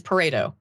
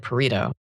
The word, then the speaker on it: Pareto: I have always heard it and the way I pronounce it is paro. Like a paro distribution. You said parto.